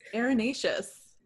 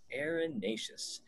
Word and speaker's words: erinaceous: have a topic today are you today is erinaceus erinaceus this is like the topic last week where